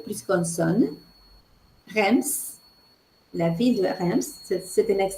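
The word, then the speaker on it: Reims: cas d'autres possibilités e i m plus consne rems la ville de rems c'est un exemple de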